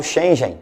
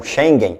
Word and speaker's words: Schengen: automaticamente ele sai do espaço schengen ou cheguem ou schengen pronunciando jeito que quiser esse espaço para quem